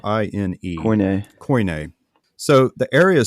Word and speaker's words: Koine: It's Koine. Koine.